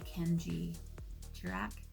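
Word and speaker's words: Kendji Girac: I was really into a guy called Ken Kenji girac is that how you say his name yes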